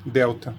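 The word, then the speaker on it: δέλτα: e esse símbolo fonético representa o som do th do inglês que a gente tem na palavra Mother e por exemplo ou o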